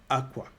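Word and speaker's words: Akwa: city within Duálá called Aqua. Many people know the city of Aqua. So Aqua, it's pronounced aqua, and it means to beg, to plead.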